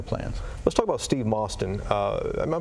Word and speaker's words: Mostyn: Let's talk about Steve Mostyn. Am I pronouncing that right?